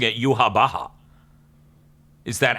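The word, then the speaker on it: Yhwach: I thought they were going for a Yahweh type name with the way it's spelt, but then they call him Yuha Baha?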